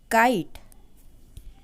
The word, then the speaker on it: kite: changes to the word kite. Tell me, do you hear the sound of E in kite word? No, we do not hear the sound of E in this word because E is silent.